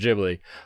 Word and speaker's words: Ghibli: the ghibli museum she just told us it's pronounced ghibli uh and we've got little old obasan that